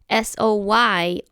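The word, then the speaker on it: Zoi: know that soy spelled s o y also sounds like the first three letters of my name z o i remember that Z is an S sound soy it's pronounced the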